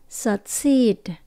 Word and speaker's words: succeed: thể succeed thành công Từ thành công chúng ta nhấn âm số hai cho nên âm đầu tiên mình đổi về chữ ơ và thấp dọng xuống là s Seed có hai chữ y mình kéo dài nhé succeed succeed là nơi mà mỗi